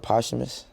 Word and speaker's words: posthumous: PI what's the word posthumous that's how you say it's like like after